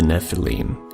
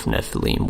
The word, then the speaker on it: nephilim: a scribal gloss indicating the base word of nephilim was originally pronounced with a long e this means of the